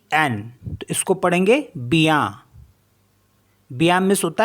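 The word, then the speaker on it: bien: for example B आई ई एन इसको पढ़ेंगे बिया बया मीस होता है वेल टी आई ई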